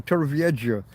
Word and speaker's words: Torrevieja: He said it wrong. Torrevieja. He insists on the J. Torrevieja. But yeah, it's a J.